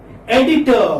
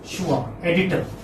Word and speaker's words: editor: car remember this to never pronounce r when it occurs at the final position so this was additive